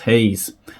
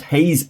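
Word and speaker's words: Gouws: They were Flight Lieutenant Rupert Stevens and Flight Lieutenant Johannes Hayes. I believe that Hayes is the correct pronunciation. I don't speak Afrikaans, but Hayes is actually spelled G-O-U-W-S.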